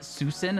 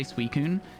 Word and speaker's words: Suicune: You used to call it Susin until you heard people say Suicune.